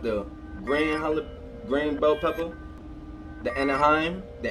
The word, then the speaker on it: Anaheim: pepper we got the grand bell pepper the Anaheim the anaheem keep pronouncing it wrong and a teeny weeny jalapeno